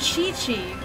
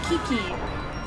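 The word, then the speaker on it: Qiqi: key Quinn like sequin and Chichi whose name is spelled like q-i-q-y it's like oh it's Kiki the thing the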